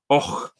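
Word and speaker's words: Avoch: If you looked at the map, it's spelled A-V-O-C-H. You can see it on the slide there, but it's pronounced Och.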